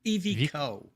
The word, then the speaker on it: EVIQO: how to pronounce the damn thing. It's not a good name in my opinion. So it's EVIQO.